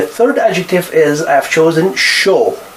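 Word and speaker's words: chaud: adjective is I've chosen show show you don't pronounce D at the end this is masculine adjective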